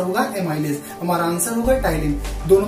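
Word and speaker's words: ptyalin: पटाइलिन, P silent होता है, पी नहीं बोला जाता, ठीक है। तो स्पेलिंग स्टार्ट होती है पी से, बट बोला जाता है टाइलिन।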